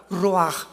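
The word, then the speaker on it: רוח: La palabra para espíritu en el hebreo es la palabra que es ruaj, que se escribe ru con ch. Pero repito, ese pronuncio pronuncia como J. Roaj.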